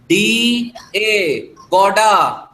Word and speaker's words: Gouda: एक और लिख लो, एक और चीज का नाम लिख लो, GOUDA, GOUDA, गौडा।